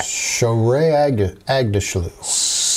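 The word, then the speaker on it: Shohreh Aghdashloo: I can't pronounce her name. Agdashlu. Yeah. Shohreh Agdashlu.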